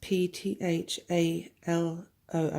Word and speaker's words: phthalo: with a pigment called phthalo blue and that's pronounced PTH al a being spelled PTH alo and it's a really